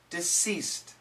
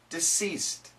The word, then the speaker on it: deceased: lower skin and it's not touching the teeth deceased deceased diseased diseased he is diseased the deceased man